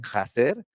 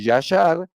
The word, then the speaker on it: Yashar: La raíz Yashar, como este famoso libro que luego traducen Jaser, en realidad no traduce jaser, no se dice jaer, se dice Yashar.